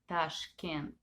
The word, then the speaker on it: Tashkent: it's an ex-soviet country the capital is is named tashkent this is how it's pronounced and uh 11 million